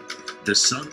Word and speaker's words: SONM: All right, so that was for the ICO, and it's actually pronounced SONM, as we just heard.